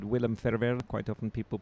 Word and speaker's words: Ferwerda: And yeah, my name is, as you said, Willem Ferwerda. Quite often people pronounce it wrongly, but you pronounce it very well.